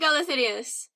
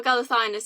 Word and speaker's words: Galathynius: Aelin Galathynius, or Galathynius as I pronounced it for years and then was corrected.